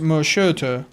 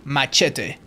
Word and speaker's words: machete: Today I learned that machete isn't pronounced machete. Well, in Spanish you say machete. And maybe in South America someone will say it's slightly different, but even in South America it's machete, but that's just because